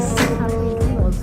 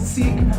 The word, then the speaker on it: Sikh: Some people pronounce it Sikh, but the actual pronunciation is Sikh.